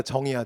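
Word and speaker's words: 丁: 요거 지나치는 잠깐 얘기했죠 여기 뭐라고 읽는다고 한국사에서는 그렇지 제이가 아니라 정의야 정 고물의 정 그래서 바테나에서 진기 끄는 사람들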